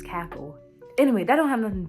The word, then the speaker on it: CACL: co-assistant crew leader, and it's spelled CACL, and I was like, that's cackle.